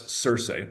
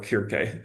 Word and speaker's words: Circe: The lone ship sails to Aya, however you want to pronounce the Aya, home of the goddess Cersei or Kirke, depending on how you like your Greek, who is considered by many to be a witch.